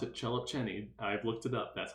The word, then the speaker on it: Szelepcsényi: main result which is due to immerman and chellip cheney and yes that is how you pronounce it cellop cheney i've looked it up that's how you pronounce